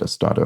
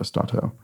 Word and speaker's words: Estado: I think I might have even said it, Estado. Maybe I don't know. Maybe I mispronounced it. In any case, that's obviously correct. Estado, not Estato.